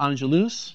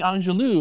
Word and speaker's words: Angelus: Now, he is with the Executive Vice President of Americas of Château Angelus. Exactly. And you do pronounce the S, correct? Angelus. Yes, yeah. I've had some people say, "Oh, you're doing Angelou."